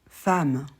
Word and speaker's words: femme: exemple avec e mm femme évidemment patiemment al alors le mot femme c'est une exception il y en a plein en français femme c'est une exception normalement E2M ne fait pas a pour les adverbes